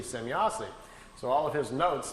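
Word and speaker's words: Semjase: trying to make some write it down phonetically how the the name sounded to him so he wrote it out s-e-m-y-a-s-e semyossi so all of his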